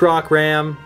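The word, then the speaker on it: Rockram: in the rot Hammer Rock Ram we've been saying it wrong this whole time we looked at the card makes it even harder to say almost but it's rock Ram so please don't flame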